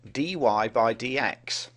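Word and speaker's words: dy/dx: derivative which is written like this and is pronounced Dy by DX differentiation can be thought of as the study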